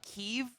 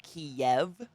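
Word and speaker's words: Kyiv: Instead of Kiev. Kiev is Russia. Kiev. So it's like Kiev. The last part of give. Kiev. But like together.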